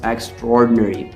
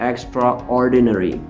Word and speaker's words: extraordinary: remember the pronunciation is extraordinary not extraordinary okay we mix the a and o sound to make that o sound only here extraordinary okay so the